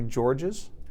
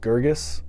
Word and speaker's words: Gorges: of your last name it's not technically George's we're German and I think the proper pronunciation is Girgis but I think it